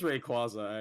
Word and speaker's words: Rayquaza: it this is Rayquaza that is how it's pronounced right Rayquaza it is Rayquaza actually cuz she has the she has the